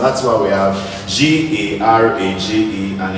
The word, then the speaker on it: garage: That's why we have GARAGE and it's pronounced as garage.